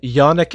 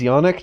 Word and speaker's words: yonic: I see, like tonic with a Y.